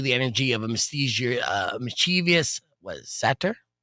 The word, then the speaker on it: satyr: And they say it's basically the energy of a mischievous, satyr? How do you say that? Satyr.